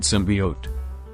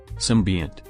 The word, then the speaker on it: symbiont: You see, Kyozai's quirk is called symbiote. Kiba mispronounced. Symbiont. Fu corrected.